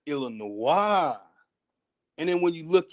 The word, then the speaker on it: Illinois: But when people look at Illinois, it doesn't click to make you say that's not Illinois, that's Illinois.